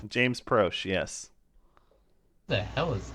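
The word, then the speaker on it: Proche: James Prosh, yes.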